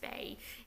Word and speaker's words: Bai: my cut is actually her name is foul Bai and pronounced bay it means pure in Chinese a little bit different